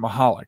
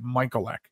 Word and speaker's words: Michalec: real quick story so i pronounced him mahalik when i was a kid in catholic school we pronounced it michael ek and nobody could get